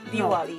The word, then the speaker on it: Diwali: I don't want to say it wrong. Diwali? Diwali. No. Yeah, I said it right.